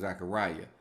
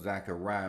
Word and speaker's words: Zechariah: You can say Zechariah, Malachi, but it's Zechariah. But Zechariah rhymes with Malachi.